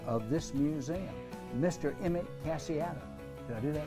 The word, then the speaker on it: Casciato: Emmett Casciato. Did I do that right? Perfect.